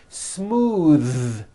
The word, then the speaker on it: smooth: Smooth. Believe it or not, the TH sound in smooth is voiced. Most foreign speakers say this word incorrectly. They say smooth with an unvoiced TH, but it's voiced.